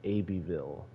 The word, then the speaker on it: Abbeville: It's Abbeville. You say it like that. I don't know why.